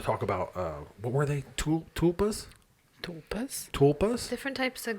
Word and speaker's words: tulpa: ghosts there are in Tulas. Am I pronouncing that right? Tula? Tulpa. Tulpa. There's a P in there that I forgot about. It's silent. It's like a pterodactyl.